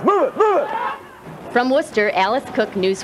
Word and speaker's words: Worcester: hills of worcester massachusetts and that's pronounced worcester the ice cats will